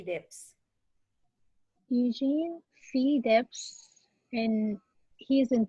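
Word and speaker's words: Debs: railway is beginning informed by age how to pronounce the name eugene v dips eugene feedex and he's in the picture over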